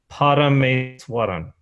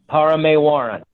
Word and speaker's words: Parameswaran: Oh, phonetically, it's exactly as it is spelled. So it's Parameswaran. Parameswaran.